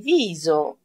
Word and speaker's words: viso: Crema per il viso. Crema per il viso. Crema για το πρόσωπο. Πάλι Z, προφέρεται εδώ το S, γιατί βρίσκεται ανάμεσα σε δύο φωνήεντα, το I και το O.